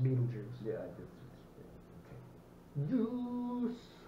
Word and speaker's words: Betelgeuse: Even though it's spelled differently than the Betelgeuse. That's kind of what it looks like, but it is pronounced Beetlejuice.